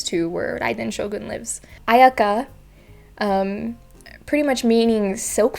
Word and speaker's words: Ayaka: third syllable it's kamisato ayaka now ayaka or i think i've heard ayaki ayaka and her last name again